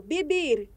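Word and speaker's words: vivir: é a mesma exemplo bibir que é o verbo viver se escreve com V mas se pronuncia com som de b então é ia também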